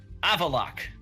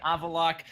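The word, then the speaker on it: Avallac'h: There is an apostrophe after the C and the H, because fuck it, why not? Who the hell cares? It's a silent H even, but he said screw it. That H is not only silent, it is isolated.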